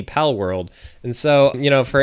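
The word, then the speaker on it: Palworld: I mess it up yeah so it's a pal world so p a l o r l d pal world and so you know for any of you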